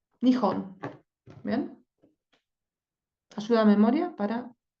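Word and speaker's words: 日本: Y el furigana, acá me dice, esta es la primera sílaba, se pronuncia ni, y estas dos, nihon.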